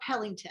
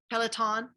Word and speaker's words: Peloton: We talked about Zoom, we talked about Chromebooks, we talked about Pellington. Is that how you say it? Pellington? Yeah, okay, Peloton.